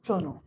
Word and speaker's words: Toronto: india we call it pronto so the right pronunciation is thrown on we have almost 12 000 uh 30 000